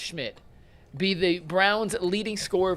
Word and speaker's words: Szymt: The question was, will Browns new kicker Andre Schmidt, and I can't believe that last name is pronounced Schmidt, be the Browns leading scoreer verse the Bengals?